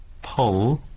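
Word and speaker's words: Pwll: P-U-double-L is pronounced? Pole. Pole. Pole. How's it go? Pole. Pole. It is Welsh.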